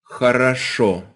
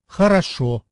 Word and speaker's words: Хорошо: All 3 vowels there are the letter O, by the way, but in Russian, only one O per word can be pronounced as an O. The rest sound like a.